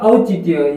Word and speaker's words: औचित्य: है औचित्य अब देखिए औचित्य वर्ड है औच वर्ड में क्या है कि यहां प ओ आया हुआ है क्या है बल्कि शुद्ध वर्ड या शुद्ध उच्चारण करने पर औच होगा क्या होगा औचित्य यहां पर क्या किसकी